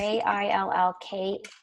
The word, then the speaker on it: Jill Keuth: It's Jill Keuth is actually how you pronounce it. Apologies. It's Jillk.